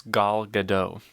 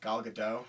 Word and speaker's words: Gal Gadot: But I don't think you say the T in okay. her last name.